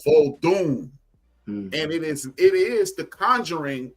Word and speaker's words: Vodun: Voodoo is a mispronunciation of that craft. It's called Vodun.